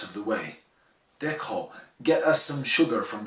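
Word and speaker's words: Deqo: Ça s'écrit D-E-Q-O, et ça se dit donc Dekho, voilà, je suis obligé de me reprendre.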